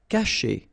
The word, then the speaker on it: cacher: Cacher. Okay, so remember, when you combine this C and A, you get the sound K, okay? And then chez, caché.